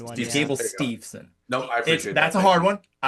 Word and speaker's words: Steveson: There is no N after the VE in it. It's Steveson. This is a So common that's one. Gable There you go. Steveson.